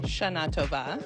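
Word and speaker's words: Shana Tova: Shaatba.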